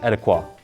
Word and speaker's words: ETIQA: to talk about one of the best-selling mess pronounced etiquot before we start we're going to be at